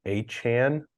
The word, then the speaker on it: Achane: Devon Achane, that's proper pronunciation now.